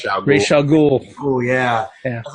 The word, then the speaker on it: Ra's al Ghul: Ra's al Ghul.